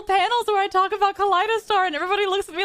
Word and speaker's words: Kaleidostar: Yeah, wait, because it's like a kaleidoscope, so like Kaleidostar.